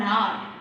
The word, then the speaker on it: hour: Example, I have to wait for an hour. I have to wait for an hour. H-O-U-R is R. But H is a consonant, but we are not pronouncing the sound of H.